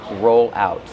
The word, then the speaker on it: roll out: Use a long O like no and go.